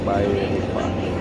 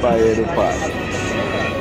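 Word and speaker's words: Valledupar: Because when I realize in Spanish, the V is pronounced like a B.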